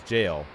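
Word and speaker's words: gaol: Also, the way his name was spelled G A O L, that is you do actually say that as jail.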